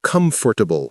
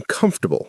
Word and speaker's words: comfortable: Like, I am comfortable with this data. But it's properly pronounced, I'm comfortable with this data.